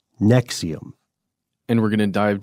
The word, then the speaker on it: NXIVM: describe Nexium itself uh it's spelled NX I VM but it's pronounced Nexium yes and and what